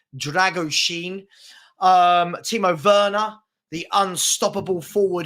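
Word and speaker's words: Drăgușin: I'm told it's pronounced Dragoshin.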